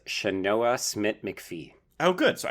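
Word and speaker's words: Sianoa: I've got it written down phonetically. It's Shanoa Smith McPhee.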